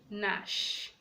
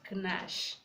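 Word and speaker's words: gnash: Letter G is silent before N. When G comes before N, the G is silent, as in Nash, Nash, not Knash.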